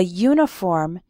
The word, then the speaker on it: uniform: next word for example we say a uniform because uniform starts with a you sound but an umbrella